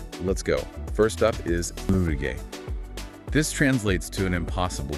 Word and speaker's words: 無理ゲー: First up is Murige.